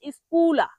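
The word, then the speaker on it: scuola: পরের শব্দটি হল স্কুলা। এস সি ইউ ও এল। এটার উচ্চারণ হবে স্কুলা।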